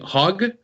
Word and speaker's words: Hauge: And how you pronounce his name? Hauge? Hauge.